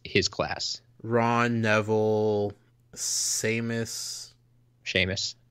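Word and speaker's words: Seamus: class Ron Neville seus Shamus is it Sheamus yep okay I I'm not sure how to pronounce that it yeah that that's that's one of those what is it like Irish or Scottish names probably talked about that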